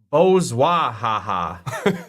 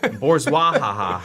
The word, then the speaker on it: bourgeois: Per Google, it's pronounced bourgeois. Bourgeois.